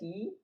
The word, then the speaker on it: y: It is pronounced like the English letter E. Just E.